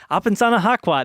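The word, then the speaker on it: Apesanahkwat: I cannot pronounce his name. Apensana Hakwat. It's Apensana Hakwat.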